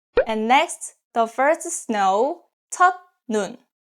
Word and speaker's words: 첫눈: And next, the first snow, 첫눈. 첫 ends with T sounds, 첫, 첫, and next syllable start with ni은. This case, 첫 is pronounced as 천, 첫눈, 첫눈.